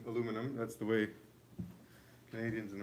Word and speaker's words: aluminum: to know also that we say aluminum the british add an extra eye so if you're living